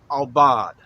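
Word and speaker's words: עָבַד: the Hebrew word we're talking about today is pronounced al bawd a bawd go ahead and say that all bod now Obot is simply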